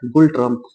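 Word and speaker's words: ngultrum: भूटान की राजधानी थिमपू और भूटान की मुद्रा है गुलट्रम। जिसमें नौ साथियों आधा नौ साइलेंट रहता है।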